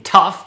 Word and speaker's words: tough: And the pronunciation for o u g h in tough is f.